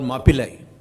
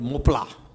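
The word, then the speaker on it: Mappila: And therefore they were called Mapillai, which the English couldn't pronounce, so they called it Mopla.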